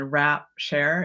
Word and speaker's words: Wrapshare: is okay so and the word is a little tricky because it sounds different than it it's spelled so Global as in the planet and then rap share it's w a as in gift WP and then s h a r as in sharing and this is a